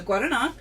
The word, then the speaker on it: Guaraná: So Guarana, the R is like a D sound when you say it the way it's spelled in Portuguese. So Guarana.